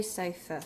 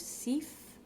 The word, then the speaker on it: Seife: When you look at the Seife or the Seife, S-E-I, in German, I before E is E, and E before I is I. Essentially, you're pronouncing the second letter in that pair.